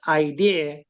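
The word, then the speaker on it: IDERR: d e r r and that's kind of pronounced idea but because of the open book exam there's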